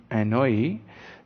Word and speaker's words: Anouilh: Now, Jean Anouilh is pronounced as Jean Anouilh, is a French dramatist.